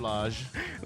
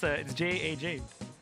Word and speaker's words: Jaj: by PmGab Lodge. You didn't say it right. Pez even Lodge. Like what? How am I supposed to say? Yeah. PmGab Lodge. No, it's not. It's JAJ. JAJ.